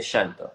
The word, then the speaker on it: llanto: For us, okay, for example, how do you say llantos? Like un llanto, would you say llanto or llanto? I say shanto.